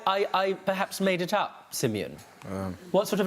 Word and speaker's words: Simeon: Well, a lot of people say it wrong. Like they'll say Simone or Simon or like. Yeah. But it's spelt Simeon.